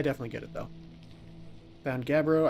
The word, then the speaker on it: gabbro: Found Gabbro. I keep wanting to pronounce it Garbo.